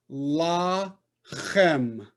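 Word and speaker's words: lachem: Two syllables. La chem. La chem.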